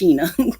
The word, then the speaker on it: Shana: it's about it's felt like Shayna but it's pronounced Sheena okay okay that's it okay I just want